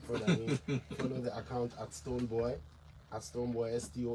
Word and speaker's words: Stonebwoy: It's boy, Stonebwoy, so that you get a pronunciation right.